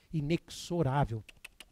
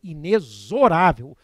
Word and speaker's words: inexorável: pronúncia né é inexorável é tão comum a gente ouvir por aí bem baixinho inexorável não pode inexplorável com fonema z e sua estado o